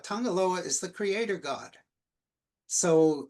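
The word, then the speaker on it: Tagaloa: Uh by the way in Samoan G is pronounced NG just a peculiarity left over from missionaries but um uh so this was Bisa Tangaloa uh sacred Tangaloa. Tangaloa is the creator god.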